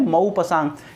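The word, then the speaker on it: Maupassant: तो उसका देखो ध्यान रखना, इसको प्रोनाउंसिएशन थोड़ा सा गलत कर देते हैं लोग, गाई डी मौपासांग, प्रोनाउंसिएशन क्या है, मौपासांग।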